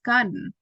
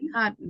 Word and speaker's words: cotton: one that is we we normally pronounce correctly is cotton because you say cotton right you know that it's not cotton so we try to say with r cotton yes yes okay so that was the gloral stop so every single time